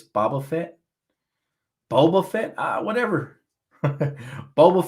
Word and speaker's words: Boba Fett: he's a damn damn you're not even pronouncing it correctly it's boba fett boba fett uh whatever boba fett bible fit doesn't matter man you